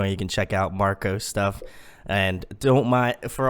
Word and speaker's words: Marco: This is Marco, aka, I'm Italian, so I should say Marco, like a proper Italian should say.